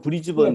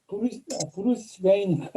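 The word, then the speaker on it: Brisbane: 브리스번 사는 사람들은 브리스번을 브리스번이라고 발음하죠? 예, 일반적으로 브리즈번. 네, 브리스번. 네, 저도 브리스번 고객들이 제일 많아서 그러는데, 지난주부터 과연 브리스번인가, 브루스베인인가, 이렇게 해서 약간 얘기가 있는데, 브리스번이 맞습니다. 예.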